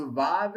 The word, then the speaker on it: vav: it's your surik, which means the vav is silent.